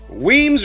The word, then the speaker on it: Weems: Weems rhymes with reams, and that's what he's doing for Trump's butthole, because that's who he is.